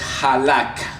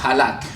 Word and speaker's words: halak: No, sigas en el hebreo es halak. Es J-A-L-A y ahí lleva tilde y la K, halak.